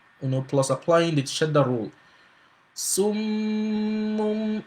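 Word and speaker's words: صُمٌّ: Summun, right? Summun. You see, I was pronouncing the silent Meem first before pronouncing the other one with Dhamma.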